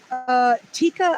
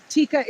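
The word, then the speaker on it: Teka: Tika, I believe he spells T-E-K-A, but I used to spell it different.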